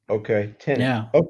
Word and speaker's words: Tenet: tenant? How do you spell that? It's Tenet.